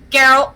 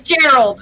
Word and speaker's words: Gerald: would be 16 for geralt gerald carol gerald sorry jerry it's gerald they all say it wrong it's gerald i know i've said